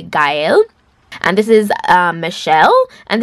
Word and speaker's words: Gaelle: It's actually, the pronunciation is actually Gaelle, guys. It was my bad pronunciation in the beginning. I said Gaelle before, but it's actually Gaelle.